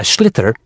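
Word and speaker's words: sliotar: And basically, you have to get this ball called a schlither. That's s L I O T A R. So, it's not spelled the way it's pronounced.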